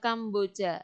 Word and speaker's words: Kampuchea: Tulisannya Kampuchea. Bacanya Kamboja.